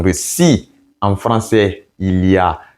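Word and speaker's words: я: Et R renversé en russe se prononce comme ya, ya, ya.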